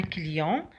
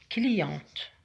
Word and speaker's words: client: Maintenant, client, prononce pas la lettre T.